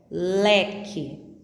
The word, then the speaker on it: leque: Ouça: queijo, esquilo, leque. A letra U não é pronunciada nessas 3 palavras.